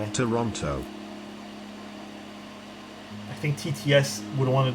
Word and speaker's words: Toronto: flows nice can you pronounce Toronto quick with the second T Toronto Toronto feel weird saying it like that how many LEDs we